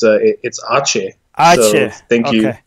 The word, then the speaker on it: Aceh: Theomek is giving us a pronunciation that it's Aceh.